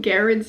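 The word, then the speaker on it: Garrard: His name is pronounced Garrett. The spelling is slightly confusing with the extra R at the end there, so I'm sorry for mispronouncing his name this whole video.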